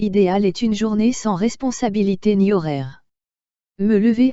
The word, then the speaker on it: responsabilité: See, the ES is to be pronounced as res. ES to be pronounced as a. So, respon. ON you already know it is to be pronounced as O. So, responsabilité. I is pronounced as E. So, responsabilité ni horaire.